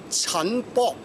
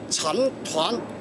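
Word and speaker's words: 陳摶: But a lot of people, they make the name wrong. They call it Chen Bo. Bo is like fighting, Bo Ji. That is not right, but it's similar writing, but they interpret are wrong. Should be Chen Tuan or Cantonese Chen Tuan.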